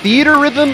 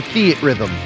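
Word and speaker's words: Theatrhythm: Is it theater rhythm or theat rhythm? Theat rhythm. Okay, so the guy was mispronouncing it. Or could I've always heard theat rhythm. I've always been hearing that.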